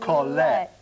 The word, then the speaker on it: Colette: And we thought there's 2 syllables. Colette.